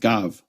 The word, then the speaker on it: gav: And then here Ezekiel 43:35 is gav with a soft bet, a weak bet, pronounced v.